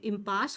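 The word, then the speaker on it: impasse: रहा है, वो आपका इम्पास होता है। प्रोनाउंसिएशन पे भी ध्यान देना है। इम और पास, ये ई जो है ये साइलेंट है।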